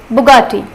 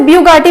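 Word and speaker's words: Bugatti: सो बुगाटी जैसा दिख रहा है, इसका प्रोनाउंसिएशन बिल्कुल वैसा ही है, बुगाटी। तो आप इसे ब्यूगाटी मत बोलिएगा, इसका प्रोनाउंसिएशन होता है बुगाटी।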